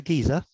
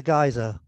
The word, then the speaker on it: geyser: um this is a giza and that's a geyser and and the term geyser comes from icelandic uh and it was